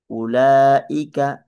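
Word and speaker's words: أولئك: Huruf kosong yang ditaruh di atas huruf ini tidak dibaca. Jangan membacanya uaika la ulaika ya.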